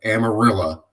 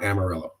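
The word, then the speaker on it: Amarillo: it a different way outside of amarilla not amarella okay done out of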